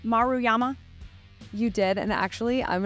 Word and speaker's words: Maruyama: on Hannah did I get your name SP pronounced right maruyama you did and actually I'm no one